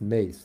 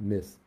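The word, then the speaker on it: Myss: Age teacher named Carolyn mace whose surname is filled my double s as in Sam but it's pronounced mace not miss she says the same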